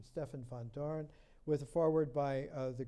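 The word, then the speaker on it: Stefan Vandoren: They took a cue, Gerard de Hooft and Stefan van Doren, the Dutch pronunciation, Stefan van Doren, with a foreword by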